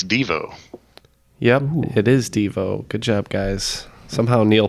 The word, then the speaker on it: Devo: Yep, It is Devo. Good job, guys. Somehow Neal pulled that one out. Well, I know it's supposed to be pronounced DeVoe, so I thought the rhyme of oh no, it's DeVoe.